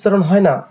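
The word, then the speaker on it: subtle: হয়ে উচ্চারণটি হয়েছে ডাউট একইভাবে এস ইউ বিটি এল ইটি হয়ে গেছে সাটল অর্থাৎ বি এর উচ্চারণটি হয়নি এবার দেখে নেব সাইলেন্ট লেটার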